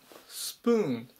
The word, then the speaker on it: spoon: プーン、スプーン、発音に注意ですね。ここの部分でポっていう風に読まないように気をつけましょう。